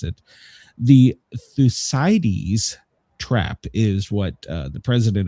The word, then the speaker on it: Thucydides: See, it's pronounced Thucydides.